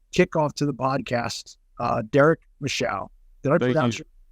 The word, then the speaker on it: Michaud: For anyone that's only listening, it's Michaud. And that D kind of throws everybody for a loop because it's silent.